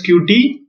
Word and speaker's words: Qt: But first, Qt, pronounced as Qt, this is a cross-platform application development framework for developing GUI.